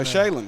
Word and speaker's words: Shaylin: And Cooper for, how you say his first name? Shaylin. Shaylin. Okay. Cooper. Exactly how it's spelled, huh?